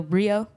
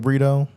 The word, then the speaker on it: Brito: here with a very special guest Mr Miguel Brio that's it that's it all right I'm making sure making sure I pronounced it right making sure I pronounced it